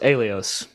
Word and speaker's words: ELEOS: ELEOS. I love it. I don't think any of us got that right. We had several guesses, and none of us had that almost like AE pronunciation at the beginning, but I love that.